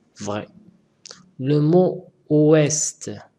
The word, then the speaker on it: ouest: Le mot ouest s'écrit avec un T que je n'entends pas. Faux. On dit ouest. Ouest. C'est pas oué.